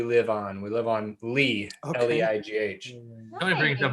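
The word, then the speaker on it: Leigh: Her name is Riley, which is spelled R-Y-L-E-I-G-H, which is the street we live on. We live on Lee, Okay.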